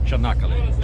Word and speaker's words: Çanakkale: Ahora estamos andando en Çanakkale. Çanakkale. Sí. Ok, a pronúncia é Çanakkale.